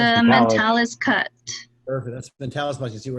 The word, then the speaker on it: mentalis: That's mentalis muscle.